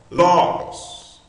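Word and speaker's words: λόγος: Veja que a sílaba, a primeira sílaba é mais forte, logos.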